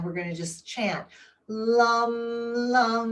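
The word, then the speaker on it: LAM: And the vicha mantra is spelled L A M. Lum.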